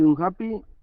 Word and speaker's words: unhappy: Y Por un, ejemplo- y un happy, en la primera. Lo contrario de happy, ¿Cómo se pronuncia? unhappy. ¿Cómo? Unhappy, como si fuera una O.